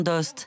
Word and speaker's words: Aoste: » Bruno Fegatelli est l’un des derniers producteurs de l’authentique jambon d’Aoste (prononcer Oste) dont l’origine remonte au 14ème siècle.